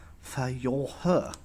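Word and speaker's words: Führer: the most powerful empire on earth in german fiora is the word for leader and fiora was what germans called hitler you pronounce it like this for your her two days later more bombs fell on amsterdam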